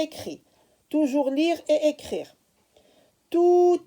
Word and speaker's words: tout: Tout, T-O-U-T, lettre muette. Tout, alors ici on me dit lis et écris. Toujours lire et écrire. Tout à coup, ici je fais la liaison.